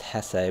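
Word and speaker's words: Jesé: if it is pronounced Hess but I mean it's it's um you know he's spish and that's how you pronounce a j so I'm going to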